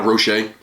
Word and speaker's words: Rocher: you never had a rocher it says rocher but i believe it's pronounced roche it's a hazelnut just